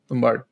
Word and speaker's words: Tumbbad: How's it pronounced? Tumbbad. Yeah, Tumbbad. Yeah, Tumbbad.